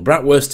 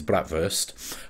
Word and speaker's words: bratwurst: it as you will bratwurst is the Yorkshire pronunciation but the proper German pronunciation is bratwurst bratwurst sausages quite like